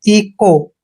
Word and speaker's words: echo: और ये ध्यान रखना, CH के बाद जब भी ओ आता है तो CH का उच्चारण आपने कै करना है और ओ को ओ की मात्रा पढ़ना है। इको।